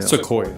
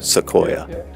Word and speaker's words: Sequoia: are am I saying it right so yeah Sequoia Sequoia and so we start walking around and and